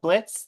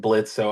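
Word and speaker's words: Blitzø: co-writer and voice of Blitz, the O is Silent on Hell of a Boss and voice of Katie Kiljoy on Hasbin Hotel. Thank you for not dead naming me and saying Blitzo.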